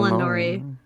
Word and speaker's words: Elnori: Eleanori, right? It's Apparently it's just pronounced El Elinori, but it's spelled Elnori.